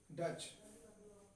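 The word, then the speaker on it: Dutch: और उसके बाद आए थे डच, ये डच आए थे। ये हमारा साइलेंट रहेगा, डैड से आया था ये डच ईस्ट इंडिया कंपनी।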